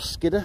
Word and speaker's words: Skiddaw: And over on the Skiddaw. Or Skidder, as the locals say.